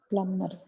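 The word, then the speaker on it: plumber: வர்றவங்க வந்து பேசுறாங்க ஆங்கிலத்துல தாய்மொழியானா பிளம்பர் எல்லாம் சொல்ல மாட்டாங்க பிளம்மர் பிளம்மர்னு தான் சொல்லுவாங்க பி சைலன்ட் பி வந்து சைலென்ட் உங்களுக்கு சைலெண்ட் எல்லாமே நான்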